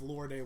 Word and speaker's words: Lorde: So you mean to tell me if Lorde was moaning, completely different. It's pronounced Lord, and I say Lorde because it makes her sound fancy, and I love it's her.